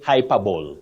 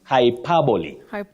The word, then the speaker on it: hyperbole: have exaggeration in literature you don't say hyperb it's hyperbole we have n n